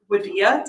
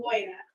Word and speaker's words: Wadia: Next, we'll ask, is it Wadia? Did I say it right? Waida. Oh, it's really, I just, If you think of the Y, it's Waida.